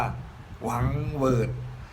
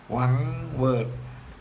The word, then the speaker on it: หวังเหวิด: ว่า Word รวม กัน ก็ จะ รู้ ว่า หวังเหวิด หวังเหวิด หรือ ชาว ปักษ์ ใต้ เจ้า เสียง เป็น พี่